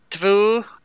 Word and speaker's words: två: I know there's some weird pronunciations. It's en. Två.